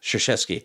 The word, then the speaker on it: Krzyzewski: Which starts with a K. Yep. And sounds like a Krzyzewski. The Polish. Makes no sense, but he throws, I guess, a dime to Jameis Winston across the body, lost it.